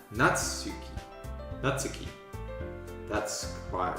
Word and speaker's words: Natsuki: can't really even help by typing how to pronounce it properly cuz it's kind of specific short shot for n natsuki natsuki that's quite right there's a soft you okay